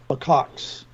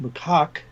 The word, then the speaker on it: macaque: Macaque, either one is correct. I've heard it pronounced by academics both ways, and I think it's.